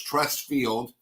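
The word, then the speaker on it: Truist: Then I went to, which was Trust Field. I'm pretty sure that's how it's pronounced. Trust, but it's spelled different.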